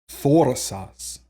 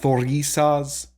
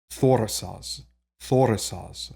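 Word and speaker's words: Thurisaz: to the next so this one is going to be foresas so it's not thorisa's something like that it's actually kind of a short eye I mean if you're getting into pedantic territory here but you know just roughly four sauce so that's also how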